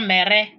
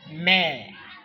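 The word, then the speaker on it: mère: It's not mere as some people used to pronounce it mere and pere. No, it's mare, pear, mare, mother, frère, brother, frère.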